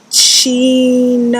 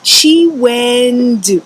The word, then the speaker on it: Chiwendu: Chinawenda? Before she can attempt to complete it, I knew it was me, so I raised my hand without hesitation. It's pronounced Chiwendu.